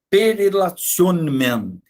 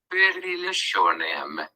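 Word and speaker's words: per relationem: Esse testamento, ele é chamado de perelationem. O meu latim não é muito bom, não é, a pronúncia do meu latim não é muito bom,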